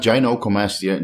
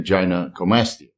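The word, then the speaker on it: gynecomastia: serum estrad concentrations is Gina comasa not gin comasa gy comasa again guys sorry if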